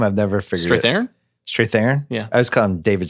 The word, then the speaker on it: Strathairn: say his last name I've never fit there straight theron yeah I was come David Strathairn it's pronounced David my prisoner that scene with the